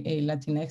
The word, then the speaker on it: Latinx: And she said in this one that if you can say cleanest, you can actually say Latinx.